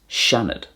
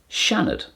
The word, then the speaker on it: Seanad: The Irish for a senate is seanad. Seanad.